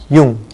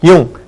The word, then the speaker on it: jung: 독일어에서 항상 이 yot 영어처럼 자음이 아닙니다. 반모음으로서요. 항상 이라는 모음으로 발음이 됩니다. 이거 없이 한번 읽어두면 어떻게 되죠? ung니까 웅이라고 읽게 되는데요. 앞에 이란 말을 삽입하게 되니까 웅에서 이를 하나 덧붙여 보십시오. 어떻게 됩니까? 융 하게 발음이 되죠.